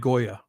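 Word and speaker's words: Gioia: His name's Ted Goya. That's how you pronounce his name.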